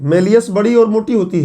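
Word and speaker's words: malleus: उसका नाम है मैलियस। कुछ लोग मैलिस बोलते हैं, तो अब प्रोनाउंसिएशन की समस्या यहाँ आती है, हिंदी नाम की जरूरत है नहीं। मैलियस।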